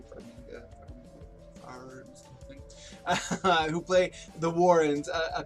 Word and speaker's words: Farmiga: of Patrick Wilson and Vera Farmiga, I believe is how you pronounce the last name, Farmiga, who play the Warrens, a couple that are exorcists essentially.